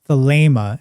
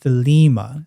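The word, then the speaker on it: Thelema: But in classical Greek, that's pronounced as an a sound.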